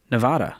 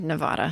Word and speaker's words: Nevada: dcom Ramsey today's question comes from Britney in Nevada or is it did I say it right yeah you did Nevada are you sure I don't think it is